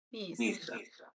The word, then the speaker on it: Nizza: Ah, ecco, questa è Annie, una mia amica francese di Nizza. Nizza. Nizza, come pizza. Nizza.